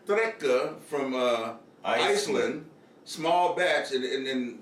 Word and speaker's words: Reyka: It's spelled R-E-Y-K-A, like you would think Reyka, but I think it's Reyka.